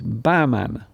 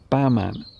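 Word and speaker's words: Bahman: So the H is not pronounced. I see. Okay then. Baman. So it's Baman. Baman.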